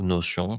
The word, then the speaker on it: Notion: Notion depuis un moment, ou Notion si vous voilà, le prononcer à la française.